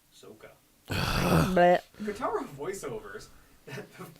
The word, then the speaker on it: Sokka: She drops it on her brother Sokka, pronounced Soka.